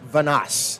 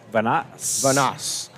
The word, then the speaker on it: Vanas: in Spring Valley, and they said it's Charlie Vanas. Vanas. Okay. And so that's kind of what we'll go with unless we're told otherwise.